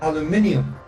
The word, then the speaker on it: aluminium: It is spelled aluminum. But it's pronounced aluminium.